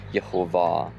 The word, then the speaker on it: Jehovah: you put it all together and the correct pronunciation is Jehovah and it was Yahveh who declared to his